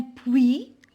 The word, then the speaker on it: puits: Un puits, je ne prononce pas la lettre T.